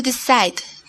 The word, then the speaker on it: decide: Hay una E muda al fin de la palabra. No la pronuncias. Así que el sonido al fin de la palabra es D.